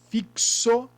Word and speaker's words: fixo: s vamos lá fixo quando a gente pronuncia a palavra fixo x fixo ele tem som de ch não se não seria lixo ele tem o som de